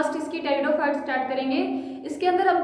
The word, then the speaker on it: pteridophyte: देखो, टेरिडोफाइट की जो स्पेलिंग होती है उसके अंदर पी क्या रहता है, साइलेंट रहता है, ठीक है, तो इसलिए इसको बोलते हैं टेरिडोफाइट।